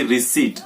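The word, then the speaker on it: receipt: जो इसकी correct pronunciation होगी वो होगी रिसीट।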